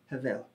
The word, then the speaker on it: hebel: The word he uses here is the Hebrew word hevel, hebel, spelled H-E-B-E-L. We pronounce it hevel.